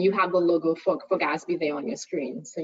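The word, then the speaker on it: GASB: governmental Accounting Standards Board and that one is pronounced as Gatsby usually so that's that's how you say it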